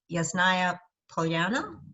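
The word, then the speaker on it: Ясная Поляна: the one tolstoy's estate is called is it yasnaya polyana correct yeah pronouncing that correctly so yeah give us a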